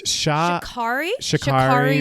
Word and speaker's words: Sha'Carri: Okay, so I'm not sure how to pronounce her name properly. Do you know? It's Sha'Carri Richardson.